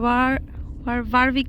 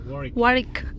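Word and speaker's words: Warwick: এটার নাম হচ্ছে ওয়ারউইক ক্যাসেল। ওয়ারিক ওয়ারিক ও আমি ডাব্লিউকে জার্মান উচ্চারণ করি, ক্রেজি।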